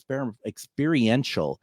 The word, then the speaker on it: experiential: This free experimental, I always say it wrong, it's experiential.